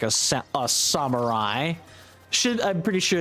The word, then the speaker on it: samurai: And and the funny thing about the SMT pronunciation is it's wrong. It's not samurai. It is samurai.